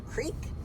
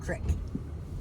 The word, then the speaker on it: creek: Is it a creek or crick? I Right. call it both, It's depending on what creek. part of the country I'm in at the time.